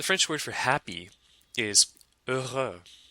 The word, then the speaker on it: heureux: The French word for happy is heureux. The X here is also silent, but liaises like an S, even in the singular masculine form.